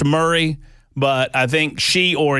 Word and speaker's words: Murray: Uh, by the way, I think the uh the super texter knows that it's pronounced Murray, but I think she or he they are